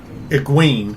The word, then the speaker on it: Egwene: Apparently it's supposed to be Ugwin. Although, the Egwene? audiobook people pronounce it Egwene.